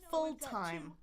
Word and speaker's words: full time: There are two syllables. It's also a compound word. Much more rare that we've got two primary syllables here, right?